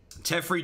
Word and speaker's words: Teferi: Teferi does rhyme with Jeffrey.